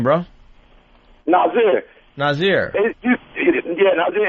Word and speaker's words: Nasir: Nazir.